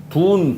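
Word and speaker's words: 遯: 이거 돈 그런데 여기서 우리는 돈이라고 읽습니다.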